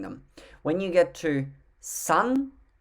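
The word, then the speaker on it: さん: when you get to sun even though it is spelt s-a-n it's pronounced more like sun as in my son or his son y-o-n go number six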